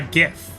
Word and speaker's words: GIF: So do you say GIF or GIF? Yeah, exactly. So the interesting thing about GIF and GIF is that, first of all, I think they're both reasonable pronunciations or something. They're both accepted.